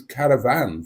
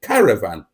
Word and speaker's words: caravan: pronounced the word Caravan with the emphasis on the last syllable and that is the northern way to pronounce the word car Caravan souers pronounce it Caravan with the emphasis on